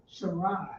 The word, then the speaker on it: Sarai: Sarai. So remember, That's how you pronounce it.